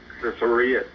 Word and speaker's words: Sharia: have run the country by I can't quite pronounce the word sorry law Sharia law Sharia I didn't mean I didn't mean to say